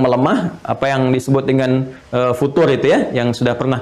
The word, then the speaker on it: futur: apa yang disebut dengan futur itu ya, yang sudah pernah kita bahas, bukan future, tapi futur. Gitu kan? Nah, jadi itu nggak usah di Inggris-Inggrisin, futur. Gitu ya. Jadi nggak usah bacanya future.